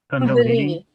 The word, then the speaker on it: Kundalini: How do you pronounce that? Kundalini.